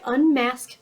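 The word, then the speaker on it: Unmasque: would like to try this this is by unmasked Beauty and it's spelled really cute unmasked Beauty um u-n-m-a-s-q-u-e and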